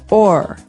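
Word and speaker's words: o'er: So this is a way to make the word over shorter because over you can hear it two syllables over. But sometimes we only want one. So we say or.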